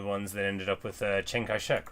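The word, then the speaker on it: Chiang Kai-shek: Yes, you you were telling me the ones that ended up with Chiang Kaishek, right? Or Chong Kai-shek is probably closer to how you're supposed to say it.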